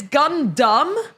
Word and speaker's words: Gundam: It's Gundam.